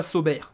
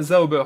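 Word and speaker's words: Sauber: pas me tromper qui a prononcé zaober et je voulais le remercier parce que c'est la première fois alors je sais pas si tu es du coin je sais plus mais la première personne que je vois qui cite correctement l'équipe zaober et pas saber comme moi je le dis vulgairement mais c'est bien zaober donc merci à toi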